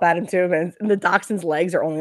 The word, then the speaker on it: dachshund: They're like the little, what are they, dachshund? Yeah. Is that how you pronounce it?